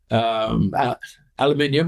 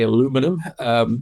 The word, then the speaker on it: aluminium: deal in gold, silver, aluminium, or as the Americans say, aluminum, in China, you can now do it.